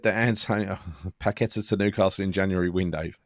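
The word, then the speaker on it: Paquetá: Yeah, Mandy said that Antonio Paqueta to Newcastle in January window. Yeah, don't think so. They couldn't even pronounce his name up there, the bloody idiots.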